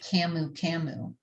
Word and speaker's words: camu camu: familiar with is called camu camu happens to be high in vitamin c how do you spell it c-a-m-u-c-a-m-u so it's just camouflaging and